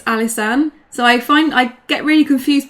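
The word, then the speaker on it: Alysanne: Well, my middle name is, so it's Alisane.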